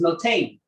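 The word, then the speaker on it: נתן: The Hebrew word lashon hakodesh for give in Hebrew is notain. Notain is spelled nun, tough nun.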